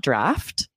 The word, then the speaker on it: draught: No, it still would be pronounced draft. Interesting. So this is a weird word and it just is not spelled at all like it sounds.